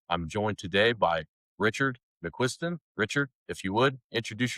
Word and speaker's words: McCuistian: Everybody that has the last name spelled the way I do that I've ever met says McQuiston. No R in there, but that's how it's said.